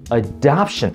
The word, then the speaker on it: adoption: 강세는 정확하게 발음하되 약세들은 대충 아주 성의 없이 발음하신다.